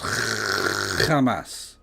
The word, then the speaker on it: Hamas: It's pronounced Hamas.